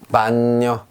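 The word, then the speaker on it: bagno: 반뇨, 반뇨 합니다. 자, 여기 G가 있으나 무시하고요. 그냥 N의 발음만 해줍니다.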